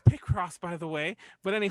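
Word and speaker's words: Picross: I'm playing I'm playing pie cross right now oh really it's the same thing I'm sorry is that how you pronounce that dude it's pck Cross by the way but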